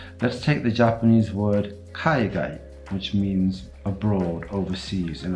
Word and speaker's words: kaigai: Now, if I take the kaigai and pronounce it in an English way, I get kaigai, right? Oh, what a kaigai, as in shy guy or something like that.